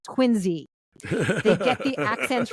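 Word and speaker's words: Quincy: movie that knows that the city south of Boston spelled qi NC Y is pronounced quiny they get the accents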